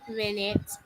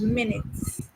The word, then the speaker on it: minute: A gi- Miss, can you pronounce Gigantic. that word for me? Gi- Gigantic. Gigantic, B minute, C minuscule, or D tiny.